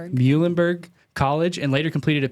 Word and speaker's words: Muhlenberg: Muhlenberg College and later completed a PhD in chemistry